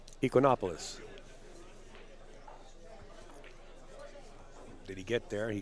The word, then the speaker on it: Ekonomopoulos: Ekonomopoulos.